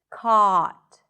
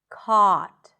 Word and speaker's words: caught: Drop your jaw. Keep the sound consistent. Caught. Caught.